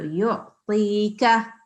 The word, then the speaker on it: يؤتيك: And then you said the qaf, not kaf. This is kaf. This is a different sound. This is a thin sound. And you said the thick sound. So yu'tika, okay?